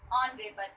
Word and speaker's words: honorable: But when we pronounce honorable, so it pronounced with O, honorable. H is silent here.